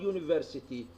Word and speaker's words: university: In this word university, the letter U is a vowel letter, but the sound is consonant, so we put A in front of this word.